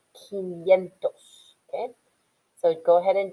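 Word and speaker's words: quinientos: the next slide and don't forget that 500 is pronounced kiniento okay so go ahead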